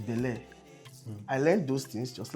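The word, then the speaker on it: Belaire: continuous process when I started hype I was pronouncing mo as moet it's mo it's not ve clot it's ve cle it's not bellare it's ble I learned those things just last year I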